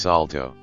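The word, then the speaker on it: Saulteaux: Aboriginal my mother was Manitoba Salto Cree pronounced Salto I grew up in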